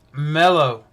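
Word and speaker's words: μέλλω: here is right here right there and it's pronounced mellow let me show you the definition Strong's number 3195.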